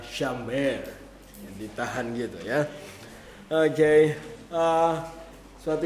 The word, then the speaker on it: Shamar: Tulisannya adalah Shamar, tapi bacanya di pronounce Hebrew-nya adalah Shamer.